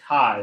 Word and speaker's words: chi: and this is pronounced this is spelled Chi but it's pronounced Kai this is a Greek